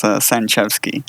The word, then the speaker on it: Sanchewski: It's Sanchevsky. Written out, it's actually meant to confuse English speakers and Polish speakers, because if you read it in English, it looks like Sanchewski.